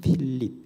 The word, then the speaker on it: 필립: 하는 그런 뜻이 있습니다 원래 이제 우리 발음으로 빌립이 원래 헬라어로 말하면 필립 이렇게 이야기를 합니다 그래서 영어로도 어